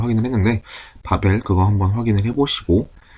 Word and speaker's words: Babbel: 아이폰하고, 그러니까 iOS하고 안드로이드는 확실히 있는 걸 확인을 했는데, 바벨 그거 한번 확인을 해보시고, BABBEL이에요. 바벨이에요, 벨. 조금 그냥 굳이 발음을 하자면 B가 두 개니까 바벨, BABBEL 한번 확인을 해서 활용을 해보시면 좀 더 좋을 것 같습니다.